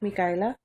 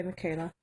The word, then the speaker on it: Micaela: We actually spelled it with a Spanish spelling, and it's actually pronounced Micaela, but for English sake, we just say Michaela.